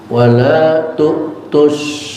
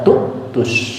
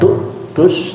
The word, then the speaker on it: تؤتوا: bacaan kita normal wala tu'tus. Bacaan orang yang ngerti nahu dan sorof atau qiraat sab'ah dibacanya beda, bukan tu'tus tapi tutus. Hamzahnya jadikan waw, jadi enggak hamzah tapi waw, tutus.